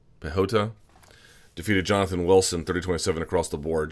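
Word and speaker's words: Piechota: what you saw there Oscar spelled pi chota I think it's pronounced pay yoda pehota defeated Jonathan Wilson 30-27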